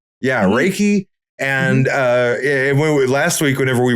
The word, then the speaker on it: Reiki: Reiki? Yeah, Reiki.